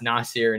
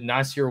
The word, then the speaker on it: Nasir: God, we're back on the pronunciation, but I found out that it's Nasir, not Nasir. Nasir.